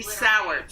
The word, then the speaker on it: Sowards: Sowards.